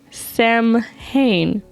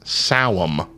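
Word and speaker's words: Samhain: llamas belain belon Bel Sam ha I don't know any of them so that last one is actually pronounced despite how it's spelled it's pronounced saam oh that makes sense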